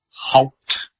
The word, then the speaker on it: Haupt: Haupt. Spell it for us.